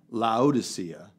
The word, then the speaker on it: Laodicea: starts with an L Laodicea okay you said Laodicea I I would have looked at the Greek and said loud Asiya in law Oh -